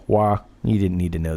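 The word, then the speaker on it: hoa: Another side note, Hua is the same in Vietnamese, only it's with an O, H-O-A, Hua.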